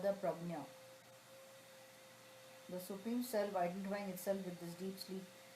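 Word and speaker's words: प्रज्ञा: The supreme self identifying itself with this, the deep sleep condition, is called the prajna. The supreme self identifying itself with this deep sleep is called the prajna.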